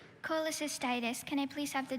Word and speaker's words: cholecystitis: from the greek itis meaning inflammation indeed okay cholecystitis um and can can he please have the part of speech noun okay cholecystitis c h o l e c y s